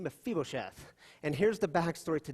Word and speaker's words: Mephibosheth: That's how you say his name, Mephibosheth.